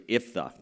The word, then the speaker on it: Jephthah: It's actually, if you pronounce it in Hebrew, it's Iphthah.